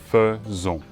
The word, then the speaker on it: faisons: ça devrait être fait long mais non c'est faisons pour le prenons sujet vous c'est aussi régulier